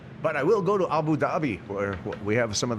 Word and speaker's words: Abu Dhabi: Abu Dhabi. Fun to say, too. Yeah, it is fun. There's a silent H in it, too. Really? Yeah. Dabby.